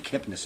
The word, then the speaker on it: Kipnis: in Connecticut I'm sitting with Kip Kipnis am I pronouncing that correctly that's correct okay in in